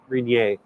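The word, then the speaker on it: Rainier: I taught my kids it's not Mount R it is Mount rier but uh there was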